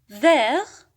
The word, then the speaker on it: vert: vert لا ننطق الت وهو اللون الأخضر.